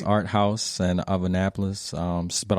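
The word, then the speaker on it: Art Haus: Art House okay but it's spelled h-a-u-s okay so it's Art House and of Annapolis um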